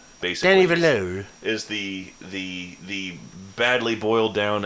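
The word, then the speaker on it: Denis Villeneuve: Denny Villeneuve?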